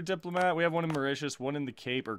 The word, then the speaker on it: Mauritius: the pronunciation of this this is Mauritius I believe and that makes a lot of sense that makes a lot of sense actually calling it Mauritius instead of mark Mateus or whatever I was trying